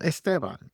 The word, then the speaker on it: Esteban: Esteban is my name. For those of you that don't, this is not a common English name. Esteban is how you say it.